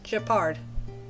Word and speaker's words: Gepard: So it's Gepard.